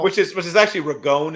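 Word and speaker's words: Ragone: is which is actually regon is the actual pronunciation but yeah okay I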